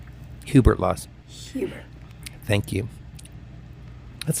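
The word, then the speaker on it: Hubert Laws: Peter kkin Jazz vocal Legend aljo and flst Herbert law Hubert LW Hubert thank you that's the first time I've ever said his name wrong in my life you know people do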